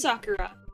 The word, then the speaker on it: Sakura: is Sakura.